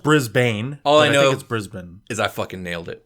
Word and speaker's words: Brisbane: It's Brisbane. Yeah, I want to say Brisbane, even though it is spelled Brisbane. All I know, think it's Brisbane.